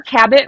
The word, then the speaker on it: Cabot: you just your remember cabit rhymes with habit like I've got a